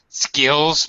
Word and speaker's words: skills: Skills. Make sure you're pronouncing that S.